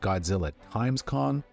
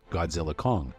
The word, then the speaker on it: Godzilla x Kong: it turns out that director Adam Wingard says the x is silent so really the movie is just called Godzilla Kong the new Empire so this is